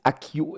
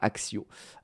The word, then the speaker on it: Accio: Mais en anglais ils disent Akio et non pas Axio. Voilà, c'était juste pour vous aussi. Au moins ça vous fait une petite anecdote de plus à savoir sur Harry Potter, tout simplement. Ah non, ça s'écrit ACCIO aussi ici. Pardon, excusez-moi. Mais ils disent bien Akio.